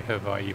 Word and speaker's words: Hawaii: spirit of that is the right way to say hawaii i think i was just watching i think i really was reading about that the other day i'll just say her by you properly uh next weekend and